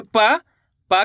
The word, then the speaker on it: पंप: Palm अनुस्वार की मात्रा पम प, तो मिलकर बन जाएगा पंप। इस शब्द के अंदर अपन ने आधा माँ का उच्चारण करा है।